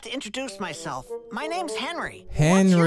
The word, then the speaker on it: Henry: My name is Henry. It rhymes with friendly. It also rhymes with Schmenry.